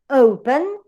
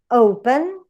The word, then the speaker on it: open: For example, in a word as open, open, or equal, or enter, envy, you have the last or final syllable weak. That's why the stress goes in the first one.